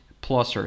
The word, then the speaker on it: Placer: So I watch local news from Sacramento and they pronounce it Placer. So okay, I'll pronounce it like that.